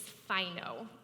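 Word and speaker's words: φαίνω: has not overcome it the greek word for shine is fino i know that's not what that word looks like but i did listen to the audible and how you say it and at its root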